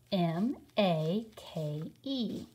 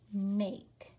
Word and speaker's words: make: let's look at it m a k e says make it rhymes with the word cake make so this is as